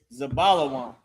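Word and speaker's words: זְבוּלֻן: How you say that in Hebrew is Zabalawan.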